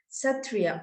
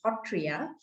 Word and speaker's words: Sattriya: my earth lovers that whenever we talk about the satria or as we locally pronounce as hotria so uh it takes